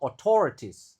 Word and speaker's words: authorities: A U-nya dibaca O, lalu autor. Lalu I yang pertama dibaca e authorities. Lalu I E dibaca I aja jadinya autorities. Authorities.